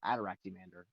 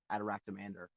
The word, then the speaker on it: Ataraxiamander: Uh, like like in other words, it's pronounced Adoractander. So that one you don't have adoractia. That's literally the spelling we use which is but you just pronounce it as one word.